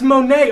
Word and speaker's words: Monet: it's written in books it's just spelled Monet but I know that that's Monae I'm not [ __